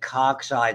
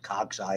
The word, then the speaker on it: cocci: spherical or ball shaped we call it a caucus is how you pronounce it cocci is the plural and they can have